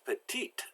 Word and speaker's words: petite: the feminine version and petite we know the e is silent but we pronounce the T now the T is